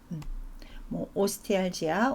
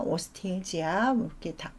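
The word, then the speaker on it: ostealgia: 그 단어를 사용을 합니다 오스티알지아 오스티엘지아 발음을 하고요 그 다음에 패시 같은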